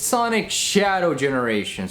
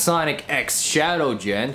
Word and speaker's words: Sonic X Shadow Generations: Also, it's Sonic Shadow Generations, or if you want to be a little more technical, Sonic and Shadow Generations. Not Sonic X Shadow Gen. You don't pronounce the X in the name, alright?